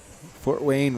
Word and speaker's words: Fort Wayne: Fort Wayne rhymes with Port Twain.